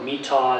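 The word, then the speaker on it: My Tho: the cochin the hamlong the meat toe or mittal as it's pronounced and the saigon river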